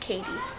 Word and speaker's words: Cady: say my name wrong it's spelled c a d y but it's pronounced Katie the first day of